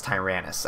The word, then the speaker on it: Tyrannus: didn't trust that because in my Safari catalog that I have, it actually says to pronounce U-Tyrannus with a T-I-H. And obviously, you say Tyrannus. I mean, it's spelled just like Tyrannosaurus, so I don't know why they messed that up.